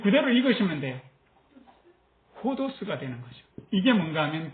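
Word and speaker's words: ὁδός: 에다가 이렇게 쉼표 하나 찍은 게, 위에 찍은 게 히읗 발음이에요. 그래서 요거를 요렇게 되겠죠. 호가 되겠죠. 요거는 디귿 발음이에요. 그 그대로 읽으시면 돼요. 호도스가 되는 거죠.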